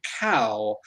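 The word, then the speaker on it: Qow: efforts into which is called cow and it's spelt q-o-w and if that sounds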